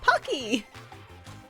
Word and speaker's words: Pocky: So Pokey is it Pokey or is it Pocky? I am like 90% sure that it's actually pronounced Pokey in Japan, Yeah. but everyone in the US is like Pocky.